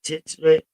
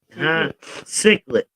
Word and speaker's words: cichlid: fish, that belong to how do you say that? The titchlet family? But anyway, cichlid. Okay, our audience members, they say cichlid. So I'll take that because it sounds better.